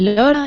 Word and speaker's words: Lara: of Spain Spain and am I pronouncing your name right is it laa or Laura which would you prefer well the thing is that as I canot pronounce well sound sounds in English my name is La laa laa okay but doesn't matter if you want to call me Laura is perfect okay okay I I